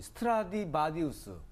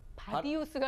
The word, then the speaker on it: 스트라디바리우스: 특히 이제 그 악기 중에서 이 스트라디바리우스, 바디우스가 아니라 바리우스.